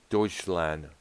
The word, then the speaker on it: Deutschland: Deutschland. That's how it's pronounced.